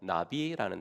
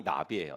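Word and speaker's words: נביא: 성경에서 예언자라고 할 때 쓰는 단어가 히브리어로 나비라는 단어거든요. 나비, 날아다니는 나비 말고요. 그 히브리어로 저렇게 쓰는데 발음이 나비예요.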